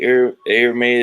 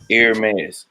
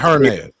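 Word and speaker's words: Hermès: Miss for everybody who don't want to say air May is the right way it is pronounced air mass that's it not Herman or Hermes no no or herpes anybody all the way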